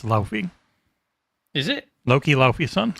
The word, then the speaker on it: Laufey: Also, I hereby ban you from saying Laufey. It's Laufey.